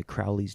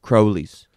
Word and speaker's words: Crowley: The American way is Crowley. The British way is Crowley. How's it spelled? Crowley. Crowley. We'd say Crowley. Crowley. Right. That's the right way to say it because he was British.